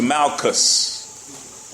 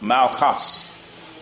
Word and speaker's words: Malchus: The servant's name was Malchus. Malchus. The C is silent now.